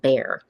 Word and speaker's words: Bexar: at the one that it's spelled b x a r that's pronounced bear and we can move